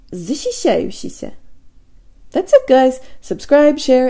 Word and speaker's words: защищающийся: Now, with as little movement away from the E position as possible, let's build backwards. E. Shisha. E. Yushisha. E. Shayushisha. E. Shishayushisha. E. Zishishayushisha. Zishishayushisha.